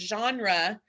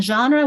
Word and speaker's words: genre: We were having a fun discussion about the word genre, because the G isn't necessarily a soft G, and it's definitely not a hard G. But what sound is? It's a French G.